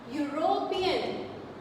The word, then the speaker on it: European: European, you will say that ma'am it is starting with E, but why can't we use? Because we can't use because this is sounding u, European.